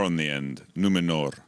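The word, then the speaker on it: Númenor: Your character is from the island kingdom of Numenor. Well pronounced. Did I you could pronounce put a that little right? R on the end. Numenor. Numenor.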